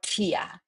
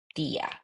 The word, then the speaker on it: tía: Remember, the pronunciation for the T is super soft. So you don't say tío or tía. You say tío, tía. It's super soft.